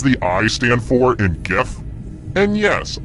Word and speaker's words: GIF: I stand for in gif and yes I pronounce it with the G sound not the J and the correct answer